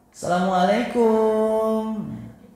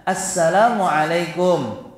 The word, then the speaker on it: Assalamualaikum: ba baik yang benar jangan asal terdengar merdu Asalamualaikum ini memang merdu merru sekali medru ya merdu tapi ini cara pengucapan yang salah nanti dijawab Kum ah ini adalah jawaban yang salah jawaban yang salah dan juga cara pengucapan serta jawaban yang salah maka ketika kita mengucapkan salam Ucapkanlah dengan baik sesuai dengan kaidah panjang dan pendeknya Assalamualaikum dan sebaik-baik salam